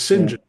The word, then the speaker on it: St John: And that's where we learned how to pronounce what's spelled St. John as St. John.